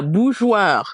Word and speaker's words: bourgeois: So if we break down what's happening, we have two syllables. The BOU, I think we're okay with. That's Mhm. boo. Now the Mhm. GEOIR. So the E is not pronounced. The E is Mhm. not pronounced. It is there really to keep our soft G sound.